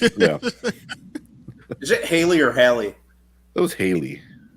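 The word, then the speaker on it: Halle: Is it Haley or Hallie? It was Haley, right? I think it's Hallie. Hallie? Hallie. Okay. But yeah, I always heard like people say Haley.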